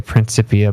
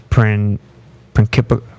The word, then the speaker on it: Principia: I always say Principia, but Principia, whatever. Yeah. There you go, Principia.